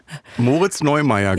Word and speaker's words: Moritz Neumeier: Von Moritz Neumeier. Genau. Habe ich das jetzt richtig ausgesprochen? Weil es gibt ja noch den Skifahrer, Neureuther. Da bin ich ganz schlecht. Moritz Neumeier, glaube ich.